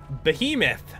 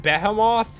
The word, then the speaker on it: behemoth: when I was little Behemoth I couldn't pronounce that at all I pronounced it beho off until I was like 18 that's right